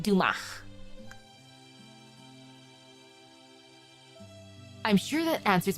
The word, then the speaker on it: Dumas: Oh, the S is silent. Dumach.